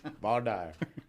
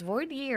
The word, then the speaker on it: voir dire: maybe in Louisiana they vaire you're saying it wrong it's vier fire well you